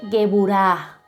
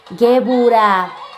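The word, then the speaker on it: גבורה: También tenemos por acá el espíritu de poder, que en hebreo se dice Geburah. Geburah, el espíritu de poder.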